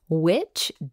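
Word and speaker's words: VVitch: Head on over to Witch Digital and note that Witch is spelled V-V-I-T-C-H and mention the Witch Wave to save 10% off your first service.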